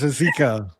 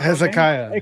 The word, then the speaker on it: Hezekiah: Oh, he can't pronounce anything. He says Hezeka. Well, he has the I doesn't count in the last Hezekiah.